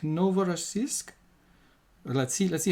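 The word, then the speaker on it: Novorossiysk: new Russia apparently and it is from the IPA something like novora Sisk let's see let's see how it sounds okay so Novara Sisk so that's what we're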